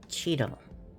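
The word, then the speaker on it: chital: A x i s deer and it is spelled ch h i t a l but it is pronounced cheetah.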